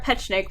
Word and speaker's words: Petschonek: I said, there are 3 syllables. And my dad is laughing so hard. He was bright red. And apparently he thought it would be easier for people to learn if he just dropped a syllable. So here we are, Petschonek, which is apparently wrong, but that's my story